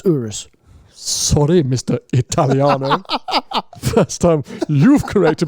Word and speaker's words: Urus: so the thing about Euros which I always find is Urus yeah it's not uterus it's Urus sorry Mr Italiano first